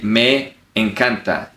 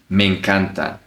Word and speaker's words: me encanta: You don't say me encanta. You connect both words. Me encanta.